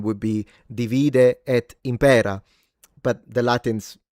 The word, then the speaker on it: divide et impera: It's divide et impera with a long phonemic vowel length at the beginning beginning. In fact, modern-day as a modern-day Italian, my natural pronunciation would be divide et impera.